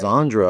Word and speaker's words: Sandra: What's the correct way to say that? Sandra. Sandra. Well, sorry. Zandra, I heard her say earlier. Zandra? There's like a bit of a Z With and a C. Z.